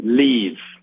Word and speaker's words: Lviv: Um, I am in Ukraine in the uh city of Leiv, which is spelled LVIV. LVIV. It sounds like a Super Bowl.